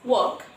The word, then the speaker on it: walk: Then we have walk, a familiar word that we all use, walk. Here this L is also silent.